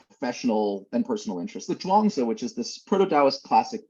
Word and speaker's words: Zhuangzi: So the Zhuangzi, at one point, this And this translator, is Burton spelled Watson, it's spelled, Z-H-U-A, yeah, Zhuangzi.